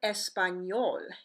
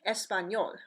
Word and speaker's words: español: letter in yay M yay in Spanish is similar to the sound of the n Y in our English word Canyon examples of this are the word español español which means Spanish yo